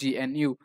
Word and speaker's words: GNU: able to a lot of information is about gnu so what this gnu stands for so gnu